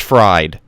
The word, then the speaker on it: FRD: frd you know frd apparently it's pronounced fried oh yeah I heard